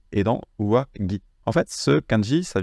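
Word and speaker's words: 上着: À noter que, ici, dans uwagi et shitagi, en fait, on fait une liaison. C'est pour ça qu'il se prononce gi.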